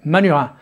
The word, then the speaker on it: Manurhin: Yep, that's how you say it, Manurhin.